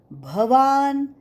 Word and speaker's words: भवान: कृप समितीजय अश्वत्थामाविकर्ण सदतीतव भवान बहुत लोग भ की जगह ब का उच्चारण करते है भगवान वाच भवान ब नाही भवान भवान भीष्म भवान भीष्म